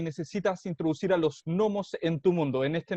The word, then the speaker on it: gnomos: Gnomos. No, gnomos, no se pronuncia así. No, Germán, es gnomos. Gnomos, la G es muda.